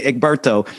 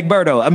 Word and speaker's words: Egberto: From Mississippi, we say Egberto.